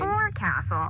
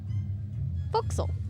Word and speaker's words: forecastle: of a sailing ship, but it's pronounced forecastle. Why's that? Try pronouncing it like an English sailor with no formal education. Forecastle. Forecastle. Over time, it whittled down.